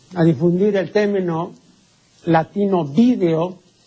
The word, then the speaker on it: vídeo: el término latino vídeo, la gente comenzó a pronunciar video y terminó pues todo el mundo video diciendo video, que es una pronunciación bárbara, ¿no? Ahora resulta que la academia admite las dos pronunciaciones, la correcta, la etimológica, la latina que es vídeo y curiosamente así se dice en España y video que se dice aquí, pues, ¿por qué?